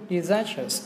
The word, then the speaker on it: disastrous: Còn chỉ có duy nhất cái từ a, disastrous, thì nó mới lại trọng âm ngay âm số 2.